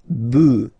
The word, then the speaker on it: bœufs: just add this S, but then pronunciation changes quite much because you get des bœufs, all right, un bœuf, des bœufs, all right.